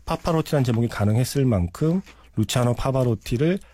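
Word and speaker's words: Pavarotti: 파파로티의 시그니처 곡이다. 네. 그리고 사실은 파파로티가 아니죠. 파바로티의. 저 헷갈렸네요. 발음 잘해주세요. 네. 파바로티.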